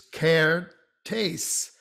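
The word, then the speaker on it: Kertész: e with an accent it's care tastes so it's ah without the accent a with the caretakes and uh his this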